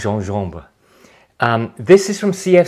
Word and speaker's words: gingembre: uh French for ginger otherwise spelled gingembre but pronounced jean-jumber um this is from